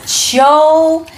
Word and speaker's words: 秋: And this word is pronounced as qiu, qiu, and qiu tian is autumn in Chinese, and four in Chinese, qiu tian.